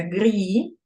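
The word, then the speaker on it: gris: вимовляється дивіться будь ласка грі пишеться гріс А читається грі тому що с завжди на кінці слів не вимовляється пре пишеться прет читається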